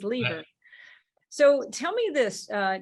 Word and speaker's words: Leever: I gotta tell you I saw the word lever l-e-v-e-r because my sister's married to a lever with one e and I'm like he's saying it wrong you're saying it right because it is leader so tell me this